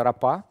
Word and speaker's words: рапа: значит вода не вода называется арапа с ударением на последнее слово направленного на последнюю букву это фактически соляной раствор